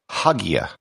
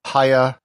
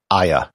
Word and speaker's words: Hagia: been pronounced there's also haya hygia with the h silent the standard pronunciation and what i'll be using in this episode is aya this would be as